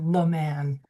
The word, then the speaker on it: LaMan: I never correct anybody when they pronounce my name wrong, but it would be LaMan.